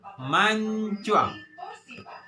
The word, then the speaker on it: mancuang: teman-teman yang punya hidung mancung mancung setelah huruf-huruf kita tambahkan huruf a bacanya mancuang Oke mancuang kalau teman-teman